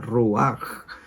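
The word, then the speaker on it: רוח: en el idioma inglés la H suena como la J en español la correcta transliteración de la palabra del término deberí ser con j ruaj porque se menciona así se pronuncia así mientras que en griego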